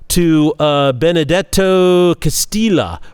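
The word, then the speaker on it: Castelli: letter to uh benedetto Castilla or Castilla he's Italian not Spanish so the Double L I believe is pronounced and he wrote this in 1613.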